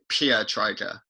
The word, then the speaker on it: Pietryga: yeah is it wrong I remember getting the tape and going said well my dad says it pure Tiger I'm kind of pronouncing a little bit wrong Sam never really been